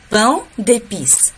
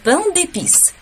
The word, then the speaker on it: pain d'épices: Слово pain, оно переводится как хлеб. Его нужно произносить через нос. Получается le pain d'épices, le pain d'épices.